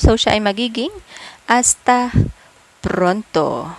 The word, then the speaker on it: hasta: Again, mga kahuwan, hindi binibigkas ang letter H sa salitang Espanyol. So, siya ay magiging hasta pronto.